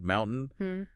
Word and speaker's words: mountain: The tint is important, button, mountain, they just kind of morph into that throat catch.